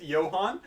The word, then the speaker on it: Johan: It is spelt Johan, but it's pronounced Johann, so I can be called Joyo if you JoJo!